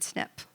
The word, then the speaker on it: SNiP: Single syllable. You won't forget it. You're going to think of a surgery that a man h might have when I say snip, right?